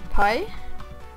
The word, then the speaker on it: Pi: på den dagen eh Då äter man paj för att det uttalas paj på engelska och eh ja man